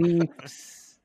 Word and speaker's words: Leafs: It's pronounced Leafs. That's how you say it, even though that's grammatically wrong.